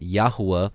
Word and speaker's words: Yahuwah: We pronounce it Yahuwah. Others say Yahweh, Yehovah, etc.